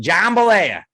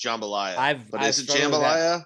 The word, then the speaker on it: jambalaya: like two days worth of lunch i had jambalaya and it was great i feel like you're pronouncing that weird jambalet jambalaya i don't know now in my like in my head i feel like it's jambalaya and you're not it's actually like i was